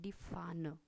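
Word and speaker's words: Pfanne: फिर आता है डी फान। डी फान, पी यहाँ पे साइलेंट रहेगा, फाना एफ से ही स्टार्ट लगता है, एफ से ही स्टार्ट होगा। डी फाना।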